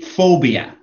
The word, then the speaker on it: phobia: It should be phobia.